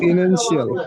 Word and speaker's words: financial: এটা উচ্চারণ কি হবে? Financial. ফাইন্যান্সিয়াল হাজিরার মোটামুটি কাছাকাছি গেছে। ফিনান্সিয়াল।